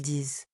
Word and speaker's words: disent: Autre exemple au présent avec il on écrit, ils disent le t final s'écrit même si on ne l'entend pas.